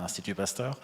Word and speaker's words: Institut Pasteur: First of all, thank you, particularly Dimitri, for this invitation, and also Institut Pasteur Korea, IPK, even if I try to use the French pronunciation, Institut Pasteur.